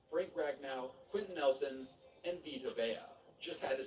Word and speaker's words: Vita Vea: Guys like Saquon Barkley, Denzel Ward, Roquan Smith, Minka Fitzpatrick, Derwin James, Frank Ragnow, Quentin Nelson, and Vita Vea. Just had to say his name correctly because I mispronounced it a few videos back.